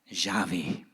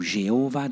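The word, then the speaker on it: Yahweh: d'isaac et de jacob c'est j'avais ou jéhovah d'un dé toute vieille traduction mais prononcé juste ça veut dire j'avais ça veut dire en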